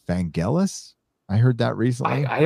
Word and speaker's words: Vangelis: i guess mispronouncing it's i call him van jealous but i guess it's vangelis i heard that recently